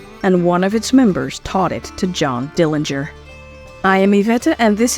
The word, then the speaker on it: Dillinger: In case you are wondering, and I know you're not, the name Dillinger should actually be pronounced Dillinger.